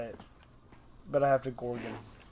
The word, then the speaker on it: Gorgon: The Gordon. Right. The Gorgon. Oh, it says Gorgon. I've been pronouncing it wrong forever.